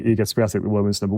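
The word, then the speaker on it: Iga Świątek: And I have a new hero who is Iga Swiatek, the women's, I was saying her name wrong, Iga Swiatek, the women's number 1, who just seems to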